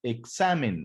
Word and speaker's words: examen: se escucha más fuerte lo mismo sucede con la palabra examen aquí muchos acentúan la palabra examen y no deben llevar